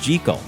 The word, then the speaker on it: Jekyll: Stevenson borrowed the name from his good friend, famed British horticulturist Gertrude Jekyll. Common conjecture states that the choice of this name that rhymes with seek-all is a clever bit